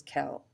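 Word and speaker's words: quel: is Kell the feminine singular version is Kell the masculine plural version is Kell and the feminine version is also Kell as you can see the answer is always Kell so it's important to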